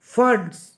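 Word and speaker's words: Pfund: Infrared में कौन सा होगा, इंफ्रारेड में होगा फंड्स, ठीक है फंड, इसे P साइलेंट है इसमें, ठीक है बेटा।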